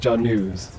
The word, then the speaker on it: Janus: name yes that's correct you may call me news if you prefer but it's pronounced John news is there anything else